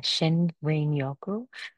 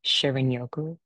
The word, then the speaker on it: shinrin-yoku: about like how I got into actually the pronunciation is uh Shen Yoku I I I practiced that so many times because I keep saying Shirin Yoku I and I'm sorry watch YouTube videos I